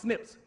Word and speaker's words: SNPs: something in the DNA system, coding system, called SNPs, S-N-P, but it's pronounced SNPs, that says that the further you move away from darkest Africa, the weaker human beings become.